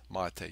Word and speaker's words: MATE: done also in Ubuntu mate and it is pronounced mate.